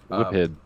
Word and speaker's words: Whiphid: And coming down those stairs is a very large, I'm sure I'm going to pronounce this wrong, Whiffid? Whiphid.